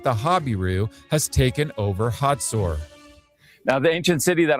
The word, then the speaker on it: Hazor: In Hebrew, the name is pronounced Hatzor, while in English, it's pronounced Hazor.